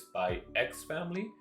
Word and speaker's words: Spy x Family: I believe the official name, the official way to pronounce this is Spy X Family.